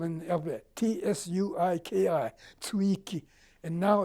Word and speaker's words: Tsuiki: It's spelled in the alphabet, T-S-U-I-K-I, Tsuiki.